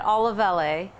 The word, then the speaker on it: Olivelle: So it's technically said Olivelle.